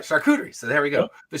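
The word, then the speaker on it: charcuterie: So, the shakuderie board or however you pronounce Yeah, that's how you say it. All right, shakuderie.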